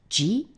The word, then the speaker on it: 時: It's pronounced ji, and ichiji would be 1 o'clock.